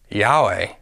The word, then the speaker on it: Yahweh: out these four vowels Yahweh the first two ya are equivalent to this syllable yeah the last two 'we are equal to the syllable way when all vowels are pronounced together it sounds like Yahweh